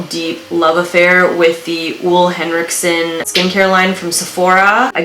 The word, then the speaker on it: Ole Henriksen: developed a real deep love affair with the w henriksson skincare line from Sephora I Googled it and you pronounce it oo Hendrickson I with o heavy he has completely changed